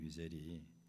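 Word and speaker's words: Wiesel: 독일어 발음으로 이제 비젤이라고 그러죠. 엘리 위젤이 그 유대인입니다.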